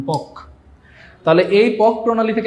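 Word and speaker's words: Palk: question আসবে strait of পক straight strait of পল কে উচ্চারণ হবে এরকম পক তাহলে এই পক প্রণালী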